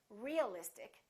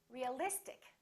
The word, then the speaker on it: realistic: ic in this case we don't stress the suffix but we stress the syllable immediately before the suffix realistic we don't say realistic we don't say realistic we say realistic electric electricity electric strategic